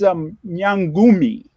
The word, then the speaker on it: nyangumi: So the next word is whale, and it's nyangumi. So Awesome. the N in Swahili is silent. So it kind of reads like we would say the word in, nyangumi.